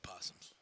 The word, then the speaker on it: opossums: You don't pronounce the O. You know what? It's just possums.